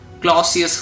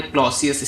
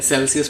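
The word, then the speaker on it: Clausius: Holi sorry मैं इसका pronunciation सही नहीं बोला। क्लॉसियस होता है। इसका नाम है क्लॉसियस स्टेटमेंट। मैं सेल्सियस पढ़ लिया था।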